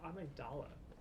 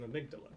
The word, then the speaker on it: Amygdala: call because it's an amygdala you can come and fight me in the chat it's greek you pronounce it like the greek would but um is it's